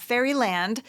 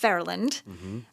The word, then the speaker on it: Fairyland: They went to Fairland Elementary, not Fairyland, spelled Fairyland, but it's pronounced Fairland.